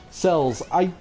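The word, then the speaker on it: Xels: Cells. So they're called cells, but they're spelled with an X.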